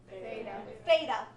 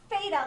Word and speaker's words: Theta: say Theta for mea thetaa it's not Theta like f like um frog it's Theta like thick or thin I guess are two words that start with that sound right Theta okay so